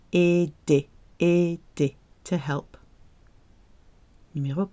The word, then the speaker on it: aider: Aider. Aider. Ending in ER. To help. It's another ER verb. Pronounced E. Aider.